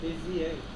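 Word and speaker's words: Bézier: বেজিয়ার Bezier. মানে German তো, এই জন্য লাস্টের আর উচ্চারণ করে না, আচ্ছা তাহলে এটা উচ্চারণ হবে Bezier.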